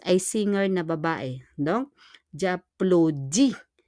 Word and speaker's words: applaudis: Donc, j'applaudis. On prononce pas le S. Et on need to connect je et a.